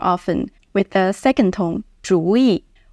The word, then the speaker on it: 主意: Technically, we pronounce 主意 as a third tone, 主意 . But in real life, especially in the northern part of China, you will hear 主意 more often with the second tone, 主意